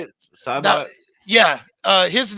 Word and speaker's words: Saibot: Cybot?